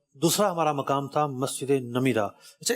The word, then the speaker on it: نمرہ: تھا مسجد نمیرہ۔ اچھا، اس کو لوگ مسجد نمرہ بھی کہتے ہیں، تو ایکچوئل لفظ نمیرہ ہے۔ میں بڑی جو نا کوشش کے ساتھ اس کا تلفظ دیکھ کر آیا تھا، 2-3 کتابیں میں نے نکال لی اور جناب ان سے باقاعدہ تلفظ دیکھا، اعراب دیکھے۔ نمیرہ لفظ ہے، ایکچوئل نمیرہ ہے، نمیرہ ہے، میم کے نیچے زیر ہے۔ صحیح۔ تو بحر عمیق